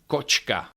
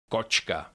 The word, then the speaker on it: kočka: Tashka that's a bag kosh kosh that is a basket with hatche is pronounced ch like in the English words check or cheese repeat after me chas chas that's time or cochka coachka That's a cat or me.